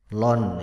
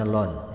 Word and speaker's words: ln: atau di di e ditulis LN atau dibaca Lon ya dibacanya Lon ya ditulisnya LN atau dibacanya Lon sehingga ee bilangan pokoknya